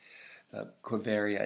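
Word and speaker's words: Quivira: you can see it on the map it's it's spelled qu IV IRA Cove area and that he'd been told that this was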